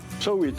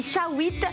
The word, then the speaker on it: Shawit: Shawit, on dit. Voilà, ça se dit Shawit, Shawit. voilà, mais je trouve qu'il est génial.